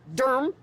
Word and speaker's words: Durham: new we are in Durham d-u-r-m as I pronounce it here that's why I